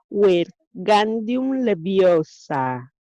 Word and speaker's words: Wingardium Leviosa: Lo estás diciendo mal, Harry oyó que Hermione lo, lo reñía. Es Wingardium Leviosa. Pronuncia Gar más claro y más largo.